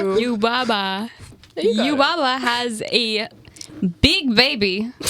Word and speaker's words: Yubaba: Yababa. Yababa. Yababa, who is a witch. Yababa has a... Am I saying it right? Yubaba.